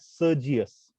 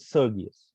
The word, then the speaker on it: Sergius: Some people pronounce it as Sergius. So even that is correct because it's a noun. I pronounce it Sergius.